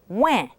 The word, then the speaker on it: ouin: In OIN, it's pronounced ouin. So you have W, and then the nasal vowel in. Ouin, ouin.